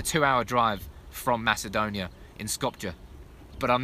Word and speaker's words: Skopje: Skopje, apparently, is how you say it, not Skopje.